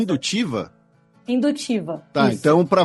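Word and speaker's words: Hindutva: um Estado baseado numa como é que a pronúncia religiosa. é indutiva?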